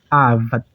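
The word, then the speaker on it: עבד: então uma sílaba fechada onde a sílaba tônica vai ser eh vad vad tá bom avad Ó avad então a caba atônica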